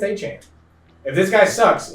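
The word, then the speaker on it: Achane: Like achan. I called him a chain. But he was really good. So he says he's achan. It's achan.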